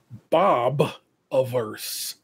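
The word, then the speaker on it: Bobiverse: the Bob of Bob I noticed when I said it before I don't pronounce it I don't pronounce it uh as well as I should I'm G take my time and pronounce Bob averse Bob averse series of books it's book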